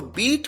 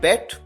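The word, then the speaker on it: beat: यहां पर अगर आप ध्यान दें तो बीट की सेकंड फॉर्म को भी उसी तरह से प्रोनाउंस किया जाता है जैसे फर्स्ट फॉर्म को, यानी बीट। कई बार स्टूडेंट्स गलती करते हैं, वो प्रोनाउंस करते हैं बेट, यहां पर बीट प्रोनाउंस किया जाना है।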